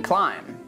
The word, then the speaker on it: climb: For example, the silent B when it's after M, like in climb.